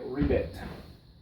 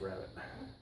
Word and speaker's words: rabbet: it there you go a perfect rabbit or if you're in England a rbit but it's pronounce rabbit so there you go